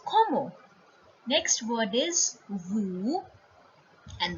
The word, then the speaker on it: comment: Now, see the first word. This is not comment, this is comment.